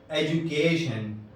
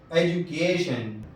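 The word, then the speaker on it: education: جیسے ایجوکیشن، ایجوکیشن، دیکھیے یہاں ڈی کے بعد یو ہے تو تلفظ جیم ہوا.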